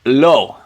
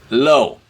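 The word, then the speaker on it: לא: that case all right low low so the the lightning bolt is a lamid and to write it out we're gonna Loop it and hook it and then the aleph is silent and we write it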